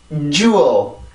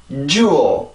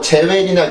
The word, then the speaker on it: jewel: 그래서 주 이게 아니라 주 jewel, jewel. 다시 한번 jewel. 한 번 더요. jewel. 네, 이렇게 해서 발음이 되고 절대로 뭐 제웰이나 주얼 이렇게 발음을 하면 절대로 안 되고 jewel 이렇게 해서 발음을 해주시면 돼요.